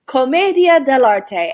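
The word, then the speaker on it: commedia dell'arte: can't guess by the way that this is pronounced it is from italy comedia de la te and it was a major art form during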